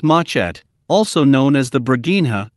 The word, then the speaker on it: machete: and a small guitar-like four-string instrument called the machete pronounced matchat also known as the bregina or the machete